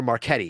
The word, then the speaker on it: Marchetti: Sandra Marchetti, or Marchetti is how you say her name.